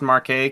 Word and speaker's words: Marquette: I'm assuming it's Marquette, because if you pronounce the T's, you're a bitch.